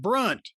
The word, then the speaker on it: Brunt: our friends over at Brunt. It's spelled like grunt except with a B because you will not grunt when you put these on.